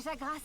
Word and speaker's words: Jagras: Donc le S se prononce. Merci assistante. On a croisé des Jagras sur le chemin de la base.